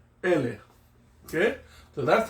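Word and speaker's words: ʻele: Ele. Okay? E-L-E. Ele. Now, before we continue with that word, there's a little okina before the first E.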